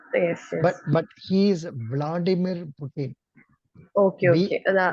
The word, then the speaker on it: Vladimir: yes sir yes yes but but he is Vladimir Putin okay okay pronunciation v l a d i m i